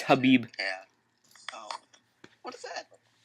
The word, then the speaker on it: Khabib: It's like Khabib or something. It's Habib.